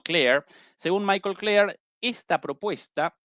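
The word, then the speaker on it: Klare: Y según Michael Claire, esa es la pronunciación probablemente correcta, no Clark, sino Claire.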